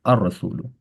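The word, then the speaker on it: الرسول: And then same thing, this ra is hurufu shamsiya because lam is silent and we make first letter doubled, ar rasulu, right?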